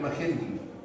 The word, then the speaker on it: Magendie: por acá, y ese agujero se llama agujero Magendie. Magendie, así se escribe, agujero de Magendie.